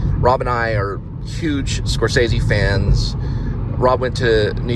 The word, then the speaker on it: Scorsese: was talking about him I mispronounced scorsese's name I don't remember how I mispronounced it um and he he he told me it was Scorsese and I said oh okay Scorsese so he was already